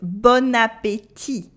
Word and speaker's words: bon appétit: We have the bon, that means good, bon with a nasal on, bon, and we have appétit with the e sound in the middle and a silent t at the end. But when we put them together, it makes bon appétit. Bon appétit. It sounds as if the bon had turned into bonne, the feminine form, and it makes bon appétit.